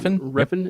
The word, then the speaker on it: Refn: Refn, is that how you say it?